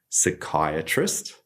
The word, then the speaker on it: psychiatrist: And then there are a whole series of words that start with this PSY related to psychology, like psychiatrist.